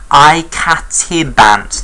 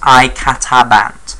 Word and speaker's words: icatibant: Icatibant, not icatabant.